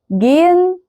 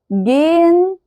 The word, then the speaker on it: gehen: فعندي gehen gehen sehen wohnen. تمام، كل ده ما كانش فيه الها منطوقه اصلا.